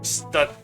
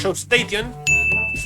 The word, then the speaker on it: Staton: Como Station, pero sin la I, cambia completamente la pronunciación. Escrita por Paul Levitz, dibujada por Joe Station.